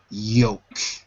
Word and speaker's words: yolk: Y-O-L-K. Y-O-L-K. Repeat after me. Yoke.